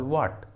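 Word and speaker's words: what: के बाद आता है, जब भी किसी इंग्लिश वर्ड में डब्ल्यू के बाद एच आता है तो एच साइलेंट होता है। For example व्हाट, व्हाट।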